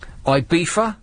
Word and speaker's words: Ibiza: Ibiza, which is the correct pronunciation.